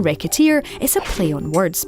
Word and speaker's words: Recettear: Even the name, Recettear, is a play on words. Say it wrong and it comes out like racketeer, which, given the circumstances of the lead character, doesn't feel that far wrong.